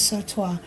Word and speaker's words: sautoir: about what it is this is so toi and that's an essay you s-a-u-t-o-i-r yeah t-o-i-r i think i'm saying it right because i asked google and that's what they told me but anyway it's a french word and that means that